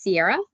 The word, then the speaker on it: Ciara: My name is Ciara. Sounds like the mountains. It's spelled with a C.